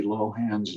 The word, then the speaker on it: Lohan: newspaper was that i have been pronouncing lindsay lohan's name wrong along with almost everybody else and her